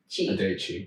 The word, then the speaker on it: Adechi: So like you said, Adechi's just like Ade Bocci. Adechi. And that's how you pronounce it. Now you know. Adechi.